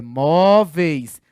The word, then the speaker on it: móveis: Você fala assim, Ricardo, mas móveis não é paroxítona, móveis é aqui, ó, é móveis.